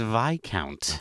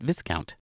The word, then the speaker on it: viscount: it is it is it is VI count okay VI count which is surprising to me because I think whenever I pronounce this in my head I always said Viscount okay uh Matthew what